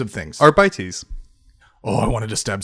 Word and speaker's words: Arbites: Arbites. That was I was like, oh, that's how that's pronounced.